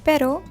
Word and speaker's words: pero: Pronunciation of single R and double R is a challenge for many students. I know. For example, if you say pero which means but instead of pero which means dog, you might confuse the native speakers.